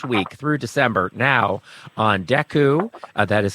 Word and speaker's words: Dekkoo: Season 2 launched on November 14th with new episodes each week through December now on Deku. That is spelled Dekkoo.